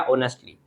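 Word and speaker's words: honestly: ये क्या बन गया ऑनेस्टली इसमें एच साइलेंट है इसको ओ से पढ़ेंगे ऑनेस्टली होता है तो ही आंसर्ड ऑनेस्टली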